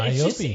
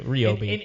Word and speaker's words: Ryobi: No, because it's like my name, well, Ryobi. it's just the right way. Yeah. But they have gone out of their way to make sure that we pronounce it the way that they want us to.